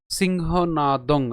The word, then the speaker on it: সিংহনাদং: ছাড়তে হবে এরপর পিতামহ সিংহনাদং সিংহ নাদং এখানে অনুস্বার অনুস্বারের মত উচ্চারণ হবে আমাদের মনে রাখতে হবে